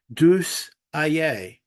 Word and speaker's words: Diex Aïe: what's going on right apparently this is pronounced du a um two which stands for God helps or